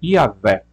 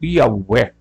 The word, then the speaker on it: Iavé: Hoje a pronúncia teológica geralmente aceita é Iavé ou Iaué, né? Mas a variante comum é Iová, né? Que é adotado aproximadamente a vocalização de Adonai.